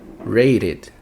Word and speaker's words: rated: Termina com D ou T? Rate. Sim, termina com T. Então, é o primeiro caso. E vai ficar com som de ID no final. Rated, rated, rated.